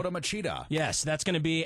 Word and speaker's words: Lyoto Machida: Lyoto Machida.